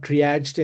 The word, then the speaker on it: triage: And basically from HackerOne triaged, and this is pronounced as triage.